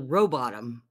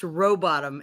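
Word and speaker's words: Rowbotham: him go ahead oh I was gonna say is the H silent he said yeah it's pronounced robotom and the only reason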